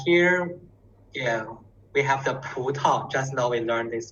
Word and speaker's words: 葡萄: 葡萄， Yeah, 葡萄. 葡萄， Yeah, 葡萄. The second syllable is very light.